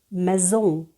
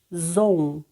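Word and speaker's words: maison: одне відомий французький слово мезон не зом а і дає нам е с між голосними дає нам з Ом в кінці слова носовий звук мезол молодці у вас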